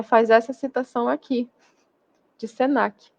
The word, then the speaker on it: Senac: Caixa Baixa tá então Senac você lê como uma palavra fio Cruz você lê como uma palavra Embrapa também você lê como uma palavra então você não pronuncia letra a letra como acontece com IBGE